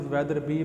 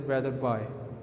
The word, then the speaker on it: Wetherby: Many people pronounce it Weatherby, but I have checked, this is Weatherby.